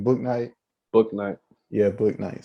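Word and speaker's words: Bouknight: Book Night.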